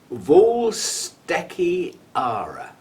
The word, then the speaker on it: Vuylstekeara: And it's Vuylstekeara. Yeah? But it starts with V-U-Y-L, which is pronounced V-O-O-L, apparently.